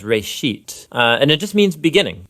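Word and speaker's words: רֵאשִׁית: it's called Genesis Genesis comes from a Hebrew word uh it's pronounced Ray sheet and it just means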